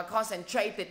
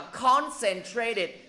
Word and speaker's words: concentrated: Thầy đọc là concentrated, đó là do em đọc rồi. Nhưng mà thầy rõ ràng là thầy vừa mới nói nó đọc là concentrated. Thầy đã nói rất là rõ là nhấn vô âm tiết thứ nhất, mà tại sao không chịu ghi chú vô?